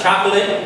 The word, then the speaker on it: chocolate: sauce chocolate sauce uh chocolate the emphasis is on the first syllable Okay C H O